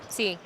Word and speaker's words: Tsai: Jade's last name, how do we go about pronouncing that? C.